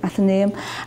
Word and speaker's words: Athenaeum: Frederick spoke in the and I hope I pronounced it wrong at the name that's how you say it okay Athenaeum and this is the original building and sadly